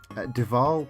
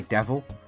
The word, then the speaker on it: Deval: rhymes but it also teaches you how to pronounce Deval because you could say devil or Deval uh but Deval for all that's good but we're